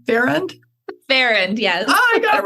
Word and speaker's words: Farrand: So I want you to meet Bevin, and I asked her how to pronounce her name. Farrand? Farrand, yes.